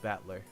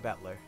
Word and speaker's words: Battler: That is made up of the characters for fight and person, and is pronounced Battler. Put it all together, you got Ushiromiya Battler.